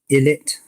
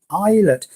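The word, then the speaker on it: Ilett: gets my name wrong he called me ill it ilat it's not iLET it's eyelet still using the Nexus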